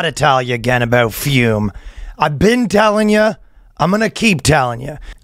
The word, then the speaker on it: Fume: Two dots on the U. Interesting name. You know we're talking about fume. It's pronounced fume, for the record.